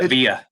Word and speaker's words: Avila: No, you say Avila. You drop the L.